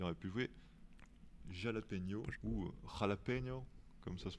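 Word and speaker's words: jalapeño: joué Veuf, il aurait pu jouer Jalapeno ou Jalapeno, comme ça se prononce.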